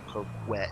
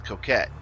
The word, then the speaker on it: Coquette: Yes, that's the way you pronounce it. I hear people say coquette, and it's not. It's coquette because it's supposed to like cokehead.